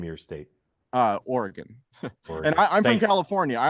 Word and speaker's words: Oregon: Party at Adam's house next time you're in how do you correctly pronounce the name of your state? Oregon.